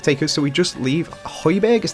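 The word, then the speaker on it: Højbjerg: But we don't really have the best of free kick takers, so we just leave Hoyberg is how you pronounce his name on it.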